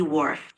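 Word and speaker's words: Whorf: this uh this to name the names are pronounced Edward sappier and Benjamin Lee WF you're doing great with the reading I sa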